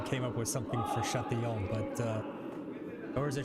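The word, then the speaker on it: Châtillon: I'm gonna See, it'd be more impressive if you came up with something for Chatillon, but or is it Chatillon? Yeah, Chatillon. Chatillon. It's a double L as a Y sound.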